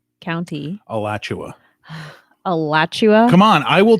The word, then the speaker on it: Alachua: Oh, well, either way, Alachua County. Alachua.